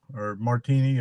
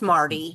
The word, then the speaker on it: Marty: So we'll go on to TJ Martini, or how do you pronounce that? Marty. It's just Marty.